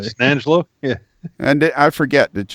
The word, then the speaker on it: San Angelo: Or if you're a native San Angelo and be a San Angelo. San Angelo. You slur it all together. San Angelo?